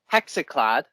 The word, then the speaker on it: Hexenklad: I am joined with Tim, and he is a member of a blackened pagan folk band called Hexenklad. I hope I pronounced that right.